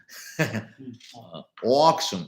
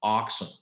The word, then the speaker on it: auction: mistake in pronunciation sometime auxin not oxen auxin okay auxin means in